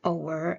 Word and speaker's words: hour: So we say in standard English an hour and not a hour okay so in creole